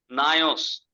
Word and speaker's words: Naos: नायोस। दूसरा जो Greek word temple के बारे में, दूसरा जो ग्रीक वर्ड है NAOS, नायोस, उसको नायोस कहते हैं।